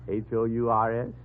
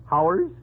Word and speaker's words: hours: H-O-U-R-S? Oh, Howers? You pronounce it hours.